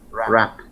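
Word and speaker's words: wrap: Rap. Not rap, it's rap. So the W is silent.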